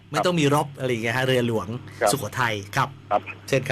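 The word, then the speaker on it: เรือหลวง: เชียร์ ทหาร เรือ ต้อง ต้อง ออก เสียง ว่า เรือ หลวง นะ ฮะ เรือ หลวง ไม่ ใช่ เรือ รบ หลวง คือ หลาย หลาย สำนัก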